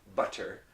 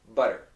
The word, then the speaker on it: butter: your mouth very quickly now it's not a tea and it's not a D oh that makes me angry I have seen many people teach this and say for example in English the word butter okay but nobody says butter we say butter and then I've heard people explain go oh yeah the T changes to a D no it doesn't change